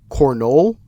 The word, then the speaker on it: Cornolle: So, Cornolle is the pronunciation.